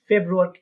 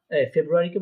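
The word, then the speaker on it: Februar: ফেব্রুয়ারিকে কি বলবো আমরা? ফেব্রুয়ারিকে বলবো আমরা ফেব্রুয়ার। হ্যাঁ, ফেব্রুয়ারি আর হবে না, ফেব্রুয়ার।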